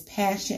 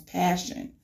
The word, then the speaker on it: Pashun: name her name is passion and not for Sean Arthur Hondas for Sean Jeffrey but no it's pronounced as passion okay now moving forward